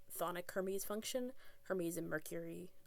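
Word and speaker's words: chthonic: I don't think you pronounce the sea. I think it's just thic like thonic hermes function.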